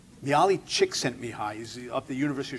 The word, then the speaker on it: Csikszentmihalyi: I think it's pronounced Csikszentmihalyi. Mihaly Csikszentmihalyi.